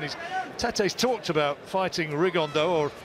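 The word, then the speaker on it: Rigondeaux: tattos talked about fighting rig on though or as he's correctly pronounced with the Spanish accent rig on Dao Chu absolute geniuses but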